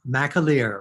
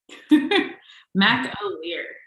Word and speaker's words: McAleer: It's McAleer. You were close. So close, but not quite. McAleer. McAleer. I put that emphasis on the last part.